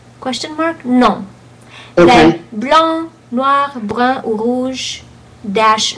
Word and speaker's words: blanc: So, but I noticed when you said blanc, you said blanc. So you did pronounce a hint of a k at the end. So que in blanc is not there. Okay, blanc, noir, brun, brun.